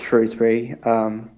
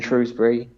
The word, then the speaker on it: Shrewsbury: Is that the accepted pronunciation of it? I know that there tends to be a bit of debate over that. Yeah, I'm pretty sure it's Shrewsbury.